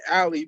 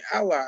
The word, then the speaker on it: Ally: spell that is it some people say ally i was saying ali but when i went to the dealership they was like oh you mean ally i'm like yeah oh okay